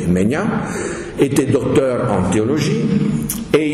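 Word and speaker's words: Maignen: et les erreurs modernes Charles mean ça s'écrit M a I G n e n mais on précise qu'il faut prononcer mean était docteur en théologie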